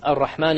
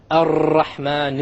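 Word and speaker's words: الرحمن: And they'll say, Ar-Rahman Ar-Rahim. I'm exaggerating so you understand what the mistake is. Okay? This is a mistake. You cannot allow the tongue to roll.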